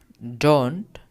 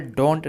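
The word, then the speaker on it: don't: अब यहां पर देखिए यह डोंट डोंट यहां पर डोंट नहीं पढ़ते हैं इसे डंट पढ़ते हैं। ओ इसमें साइलेंट होता है इसलिए बता डंट डोंट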